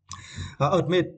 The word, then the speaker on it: admit: it is very important admit and for this words you need to St the second syllable me admit is meant